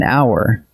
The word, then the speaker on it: hour: But hour and honest start with a silent H. So what your ear actually catches is a vowel, and that is why they take an.